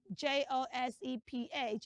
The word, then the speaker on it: Joseph: z sound there yes the letter s in that name is z not s so it's Joseph say Joseph Joseph Joseph Joseph Joseph